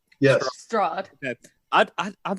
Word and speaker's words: Strahd: Strahd.